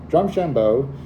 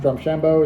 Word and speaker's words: Drumshanbo: Today's main review is going to be drum shambo uh Irish whiskey and it's from their pino